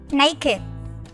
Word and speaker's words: naked: Đuôi ED trong các tính từ sau đây sẽ được phát âm là IT.